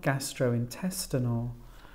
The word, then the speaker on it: gastrointestinal: the fourth syllable analgesics and this time four syllables the stress on the fourth syllable antibiotics we've got well